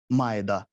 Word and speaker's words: مائدہ: ہوئے فرمایا کہ سورہ مائدہ، یاد رکھیے گا سورہ مائدہ، سورہ مائدہ، پھر اس کا اردو تلفظ کیسے ہوگا، میم الف زبر ما، حمزہ زیر اے، دال ہے زبر دا، مائدہ، سورہ مائدہ۔ سورہ مائدہ